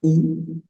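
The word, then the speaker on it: où: en francés sería u sin el acento ambos suenan igual Entonces cómo se sabe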